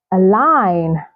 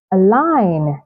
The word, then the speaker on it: align: Gnome, assign, assign, align, align.